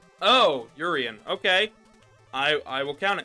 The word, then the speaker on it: Urien: like my name it's it's pronounced like my true name so it's uh urien oh urian okay I I will